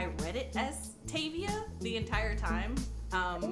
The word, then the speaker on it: Tavia: That being said, Tavia is obviously pronounced Tavia, and then Effie, and